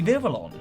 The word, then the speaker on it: Vivillon: And by the way, I'm totally mispronouncing it. It's actually Vivillon.